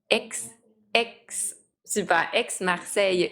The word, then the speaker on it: Aix-Marseille: Et là, je veux pas mal le prononcer, mais ça se prononce AX Marseille University ou Aix-Marseille Université Aix-Marseille avec le Université.